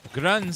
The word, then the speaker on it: grund: good around go grund it's grund sounds like um who a Scottish accent saying ground ground on the grounds praise